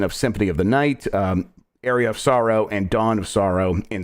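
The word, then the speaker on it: Aria of Sorrow: you're supposed to say what did I say area of Sorrow you said it right areola areola I'm sorry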